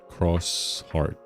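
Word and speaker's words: Xros Heart: And also it's pronounced cross heart.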